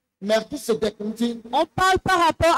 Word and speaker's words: Melchisédek: Ici, on le prononce pour Melchisédek.